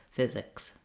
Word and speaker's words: physics: So you want to just go quickly from the K to the S, physics. In physical, we have three syllables.